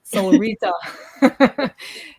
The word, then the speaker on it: Solrita: And because we asked her officially how her name is supposed to be pronounced, is it Solrita? Is it Solretta? So officially, guys, it is Solrita.